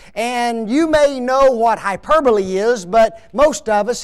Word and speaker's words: hyperbole: okay the very first one is called hyperbole okay no not really that's not that's not the way it's anybody know how to say it ah there you go yes hyperbole okay I can just